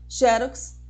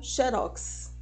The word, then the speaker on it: xerox: é a própria ortoépia Que ela possa chamada ortoépia ou ortoepia ia a Croata ou a gravata hieróglifo ou hieróglifo Boêmio ou Boemia xerox ou xérox em Pernambuco do conceito de